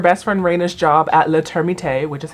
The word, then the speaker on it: Le Termite: So Maggie goes to her best friend Raina's job at Le Termite, which is how it is pronounced, which is, I guess, a French restaurant specifically for termites.